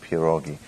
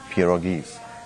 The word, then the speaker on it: pierogi: to learn i'm actually to teach people how to pronounce this word because sometimes people are say they are saying p roggies and like a double as I mean you-you-you is already the parole so one PA rule and many puro gives